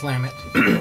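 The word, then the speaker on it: Lamont: long time specifically Clan lamit uh which is spelled l a m o n t uh pronounced lamut as in like lamb and the word it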